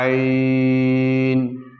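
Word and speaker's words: ع: আপনারা পড়তে থাকুন আর আইন হা আইন হা আইন হা আইন হা প্রিয় বন্ধুরা আইনকে অবশ্যই আপনারা হলকের মধ্যখান থেকে চাপ দিয়ে চিকন করে পড়ার চেষ্টা করবেন আর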